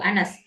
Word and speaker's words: honest: Itu honest. Tulisannya konsonan, tapi pengucapannya adalah vowels.